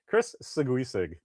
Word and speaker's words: Seguisig: just something about hearing somebody's voice that look, there's Chris Seguisig, which is, I understand now after knowing him for 10 years, that's the correct way to pronounce his name.